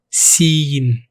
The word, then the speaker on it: سين: This is like the S in sun. Pause the video. Shine bright like the sun. Seen.